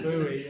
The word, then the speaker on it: buoy: know what I'm saying whether you're American you say buoy or or you're English and you say Bo right but anyway I think